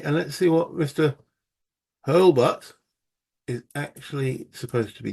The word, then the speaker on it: Hurlbut: um hurtle H that's it's not hurtle hbut I'll do apologize if